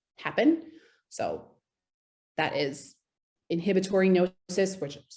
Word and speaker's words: gnosis: consume it the third one is called gnosis and that is spelled g-n-o-s-i-s and this term originated in what's